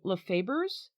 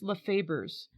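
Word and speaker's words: Lafeber's: I'm pronouncing it right it's l e f b e r apostrophe s so lefers lefers lefers I think it's lefers pellets and this is a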